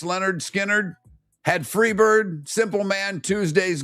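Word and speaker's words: Lynyrd Skynyrd: Leonard Skard released their debut album, Pronounced Leonard Skard.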